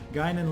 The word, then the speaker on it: Guinan: tuned into and realized all along I've been mispronouncing the name. What do you know? Guinan, let's get over here with run and gun and take a shot.